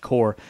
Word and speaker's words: Corps: With a track record of games that included titles like Donkey Kong Country, Killer Instinct, Blast Corps, yes, it's pronounced Core, and of course, GoldenEye 007, they had become one of the most admired developers of their day.